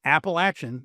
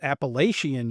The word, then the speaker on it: Appalachian: There is no other way to pronounce that word. If you pronounce it any other way than Appalachin, you are wrong. If you pronounce it Appalachian, you are damn wrong. Um, and I think there should be severe penalties uh in in society for people who say it the wrong way.